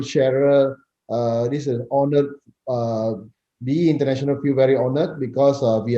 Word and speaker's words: BE International: Lee, as I see your background now, and you were pronouncing the name of the company. Is it BE International or B International? It's BE International.